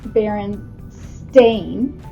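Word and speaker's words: Berenstain: said Mrs row do you pronounce it Baron Stein or Baron stain and she said that's very interesting she said we use the EI pronunciation in in their spelling uh lessons because it's baren stain and that is how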